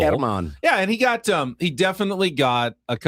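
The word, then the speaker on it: Germán: Didn't notice the accent on the A. I've been calling him German Marquez. It's German Marquez. Herman. Yeah, the accent on the first syllable. Herman.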